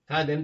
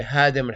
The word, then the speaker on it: Khadim: Khadim, the servant. And this guy wasn't able to pronounce the khe. You say Hadim al-Haramain. Hadim means destroyer.